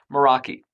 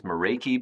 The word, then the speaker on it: Meraki: Moroi. And again, I've been known to pronounce this Moriki, but technically it should be uh the Moroi. It's actually a Greek word that refers to a zest or passion.